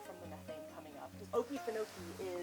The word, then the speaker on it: Okefenokee: Okefenokee is an interpretation of a Seminole word. It's also like Okefenokee is the other kind of popular pronunciation, and it loosely translates to land of the trembling earth.